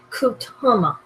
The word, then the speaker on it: Kutama: It's pronounced Kutama.